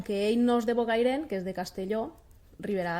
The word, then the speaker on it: Bocairent: Nosaltres la T final no la pronunciem ni en Bocairent, Ontinyent, Agullent, i és una característica de la nostra zona.